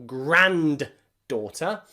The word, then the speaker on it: granddaughter: Most people don't say grandson or granddaughter. In granddaughter, there are two D's. The first one is silent. Daughter, of course, we need D, daughter. But in grand there, we don't pronounce the D.